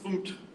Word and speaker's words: fmt: You gotta just take the U out of it and pronounce it FUMPed.